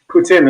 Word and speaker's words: poutine: I did not have that, but I did have poutine. Did I pronounce it correct?